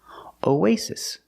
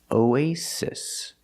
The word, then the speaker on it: oasis: Oasis. Both S's are pronounced like true S's, s, no vibration. Oasis.